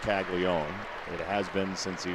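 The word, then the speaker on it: Caglianone: It is Kaggle Leone. Not Kagleone. Yeah, it's it feels like there's an extra N, but it's actually pronounced Kagleion.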